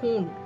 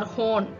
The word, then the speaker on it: hon: Han if it's a female then we Say hoon it is not Han or horn okay many Indians have this pronunciation problem they read it as hand or